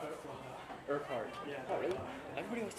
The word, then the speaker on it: Urquhart: Urquhart. Yeah. Oh, really? Everybody wants to It's a leave weird Urquhart.